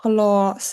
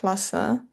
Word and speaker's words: glas: And even though it's just one A, yeah, it's pronounced glass, not glasse, glass.